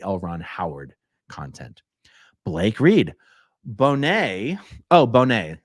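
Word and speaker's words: Bonnet: Ramsey anyway um okay Bonet in Charles Bonet syndrome is pronounced Bonet and it is when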